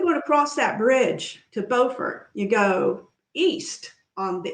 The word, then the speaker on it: Beaufort: If you take the bridge north from Morehead City, you'll be in Beaufort. Now, I know in South Carolina, you would pronounce that Beaufort. Right. That's the right one. North Carolina, it's Beaufort. Okay? I lived in Beaufort for a while, so that's the right way, Grace.